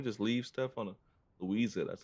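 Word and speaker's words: Luiza: We just leave stuff on a Louisa.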